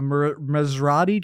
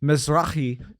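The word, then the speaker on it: Mizrahi: No, you're going to have to correct my pronunciation. A mazrai Jew. Mrai. Misrai Jew.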